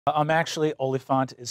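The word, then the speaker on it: oliphaunt: i'm actually olefant is spelled o l i p h a u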